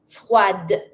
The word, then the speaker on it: froide: add my feminine e, then I'm going to pronounce my d. Froide.